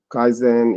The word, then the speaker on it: Kaizen: Kaizen is a Japanese word with two syllables, Kai and Zen.